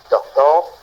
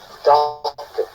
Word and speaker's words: doctor: Une chose que vous devez remarquer également, c'est que le R n'apparaît pas lorsque nous prononcions. Et donc, on ne dit pas doctor, comme nous sommes tentés de le faire en bon francophone que nous sommes. Mais doctor, nous arrêtons là.